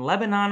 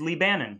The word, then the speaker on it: Lebanon: but it exists in lebanon ohio not to be confused with lebanon the country that all the students i work with pronounces lee bannon because they've never heard of it but kitchenette is an